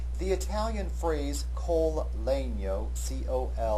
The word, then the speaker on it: col legno: The Italian phrase col legno, C-O-L-L-E-G-N-O, pronounced col legno, is written into the violin parts toward the end of this movement, and it literally means with the wood.